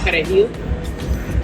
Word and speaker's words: perejil: If you can't roll your R's, that means you don't have any Spanish background, that means you're Haitian, you gotta go.